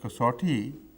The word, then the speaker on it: کسوٹی: یہ لفظ کسوٹی درست ہے، اسی طرح اس کا تلفظ ہونا چاہیے کسوٹی کا، لیکن ہم نے اپنے